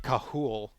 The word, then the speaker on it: Cathal: Um, we had a we have a person that interacts with us a lot, named Cahool, right? And his name is spelled like Cathal.